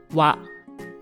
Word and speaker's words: は: The hiragana "は" is normally pronounced "ha," but when it is used as a particle in a sentence, it is pronounced "wa." For example, in "watashi wa, (I am … )" the character "は" is read as "wa."